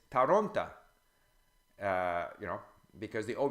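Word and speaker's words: Торонто: deceptive like the ol if it's not stressed in a word becomes ah so Toronto is taranta you know because it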